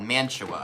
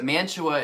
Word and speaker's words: Mantua: So Mantua is spelled M-A-N-T-U-A. And I think I went a little too French with this pronunciation, so I called it Mantua.